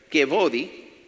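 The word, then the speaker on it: כבודי: Es una palabra hebrea, se escribe kevodi, así lo pronunciaríamos, kevodi, que es un verbo sustantivo, y es derivado de una raíz llamada kavod.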